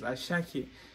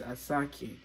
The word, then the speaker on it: Asake: shot you got money I don't know why you guys pronounce it as ashaki but around this side in my language it is asaki yeah I go I